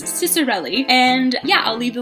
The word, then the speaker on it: Ciccarelli: Stara by Kristen Ciccarelli I have since learned how to say her last name if you saw the book talk I did on this I had no idea and I butchered the out of it so I have been informed that it is Ciccarelli and yeah I'll leave